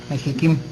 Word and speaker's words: Mexichem: a una empresa privada conocida como mexichem así se pronuncia también Mex sí mexiquim mexi bueno se escribe con che de Chucho verdad Bueno Se los